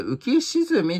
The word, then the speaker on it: 浮き沈み: な 2019 年みたいですねあこれ浮き沈みって読むみたいです普通って呼んで